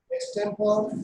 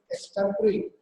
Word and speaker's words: extempore: A number of programs like dance, drama, skit, solo song, elocution, extempore. Actually, the correct pronunciation is extempore, but majority of the people speak like extempore.